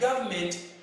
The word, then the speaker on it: government: Remember the other time when we were introducing this topic, we understood that the word government has that N there, which I don't want you to forget always, this silent N.